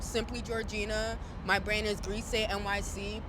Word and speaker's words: Grisé: My brand is Grise.Nyc. Please pronounce it right. Please add the accent on that, because if I was Beyonce, you do it too.